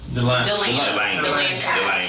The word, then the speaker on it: DeLand: Delane. So it's Central Florida, North Spell it out. yeah. You know, anybody know how to DELAND. Like the land.